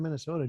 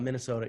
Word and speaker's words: Minnesota: I went to the University of Minnesota, Minnesota. Yeah, I see. I even say Minnesota like a Minnesotan, where I leave the N's out. It's Minnesota, right?